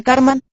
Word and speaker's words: karman: y hasta satánicas a karma en sánscrito se pronuncia karman kariwa la acción humana